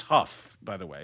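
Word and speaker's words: Haugh: Please, it's Huff, by the way. It's not Haw. It's spelled the same as Haw. Oh, okay. Pronounced Huff.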